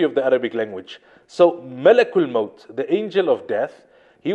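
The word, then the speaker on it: ملك الموت: and we pronounce this word correctly it's not malikul mode as many people pronounce it malik means king in in the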